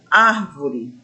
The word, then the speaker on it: árvore: a palavra, ou seja, a sílaba ar, que é a antepenúltima.